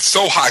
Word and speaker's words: Sohei: If I can't pronounce it, I hate, the guy said so high, so I'm glad he said it right.